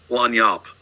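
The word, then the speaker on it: lagniappe: You may have heard this, maybe not, but this little phrase in the quotation marks, this word is pronounced lanyap. It's a Cajun word that means that little something extra.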